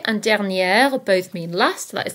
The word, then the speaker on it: dernière: Prochain and prochaine both mean next, so be careful here because there is a difference in the pronunciation. Prochain, prochaine. Dernier, dernière.